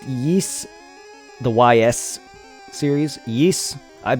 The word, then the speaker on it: Ys: i enjoy the geese it's pronounced yeast the ys series yees